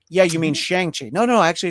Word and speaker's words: Shang-Chi: It's like, you mean Shang-Chi. No, actually it's pronounced Shang-Chi.